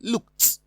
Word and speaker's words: looked: But in option D, ED is pronounced as T because it follows a voiceless sound, K, coming from the letter K.